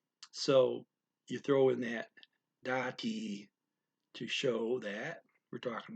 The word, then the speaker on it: dati: can put the word dati. That's spelled D-A-T-I, dati, dati. The da is kind of quick and the T is kind of long, dati.